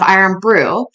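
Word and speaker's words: Irn-Bru: Buckley but seriously so in Scotland they had to change the rules or the spelling of iron Brew so that it wasn't confused to have real iron in it so it's spelled i-r-n-b-r-u so wow that's amazing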